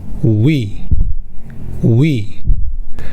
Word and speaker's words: ㅟ: “won” “won” “wo” “wo” “ㅟ” sound is similar to “we” sound from “week”. “week” “week” “we” “we” “ㅢ” sound doesn’t exist in English.